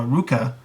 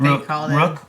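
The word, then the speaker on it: Rukh: to bring in uh Ruka I think is his name I forget exactly how you pronounce it Rook is what Rook okay there you go uh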